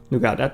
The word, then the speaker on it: Nougat: Nougat, that's how we pronounce it in Romanian.